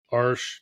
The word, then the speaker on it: Arches: I better say it correctly since I'm a brand ambassador now. My first watercolor teacher was Arsh.